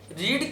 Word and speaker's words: read: रीड की तीन form होती है, उसको हम उसी तरह से बोलते हैं। जैसे रीड, रेड, रेड स्पेलिंग वही होती है READ, लेकिन उसको रीड, रेड, रेड पढ़ते हैं।